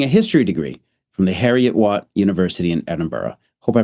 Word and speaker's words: Heriot-Watt: history degree from the Heriot-Watt University in Edinburgh. Hope I pronounced that correctly. Almost. How was it pronounced? Heriot-Watt. Harry.